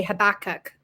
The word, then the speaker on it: Habakkuk: And some people say Habakkuk, but I say Habakkuk. I don't know exactly how you're supposed to pronounce it according to, the Old Testament.